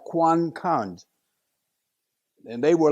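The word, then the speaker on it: quân cảnh: like a security police QC is a Vietnamese word is pronounced Quan cons and they were like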